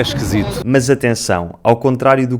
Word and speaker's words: esquisito: Muitas vezes estes “i’s” átonos transformam-se em “e’s”, como na palavra “esquisito”, que nós dizemos “esquesito”. O Filipe é muito esquisito. O Filipe é esquisito.